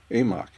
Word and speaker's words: AMOC: a lot about the amok which is short for the Atlantic marional overturning current based on my awkward pronunciation of the Atlantic meridional overturning current you can understand why I prefer the acronym amok with this video I